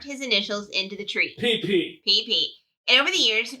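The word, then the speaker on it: Pee Pee: Okay, how about PP, Ohio? How's it spelled? P-E-E. Oh, so there's just again no disguising it. It's PP.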